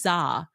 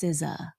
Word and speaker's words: SZA: I was like, who's Za? Because it's spelled SZA. I was like, Lizzo and Za have me in their song. And she looked at me, Mia, and she was like, it's SZA.